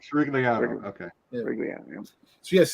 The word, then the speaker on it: Sirigliano: How do you pronounce that? I don't want to. No, it's Sirigliano. That's my last name. Sirigliano. Sirigliano.